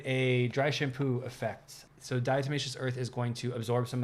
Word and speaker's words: diatomaceous earth: of uh dious Earth I need to make sure I'm saying that pronunciation dious Earth dious Earth yeah I was saying it correctly and here's the British